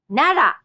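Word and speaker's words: 奈良: Let's practice this R sound with Nara. Nara.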